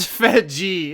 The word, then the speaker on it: Fedje: Andrew Fedje, conduit of it's pronounced Fedji itself.